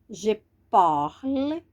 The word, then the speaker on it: parle: frente tenha uma vogal Então vamos lá ó Je parle viram aqui era parle ele no infinitivo falar